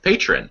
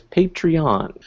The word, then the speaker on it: Patreon: new system uh with Patron I asked them because I had no idea and the proper official pronunciation is patreon you've moved over to